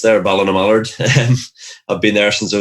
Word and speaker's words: Ballinamallard: I'd been doing quite well for my local team, which you brilliantly pronounced there, Ballinamallard.